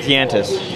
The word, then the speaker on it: Yantis: I don't know what the backstory of that is, but it rhymes with Yantis.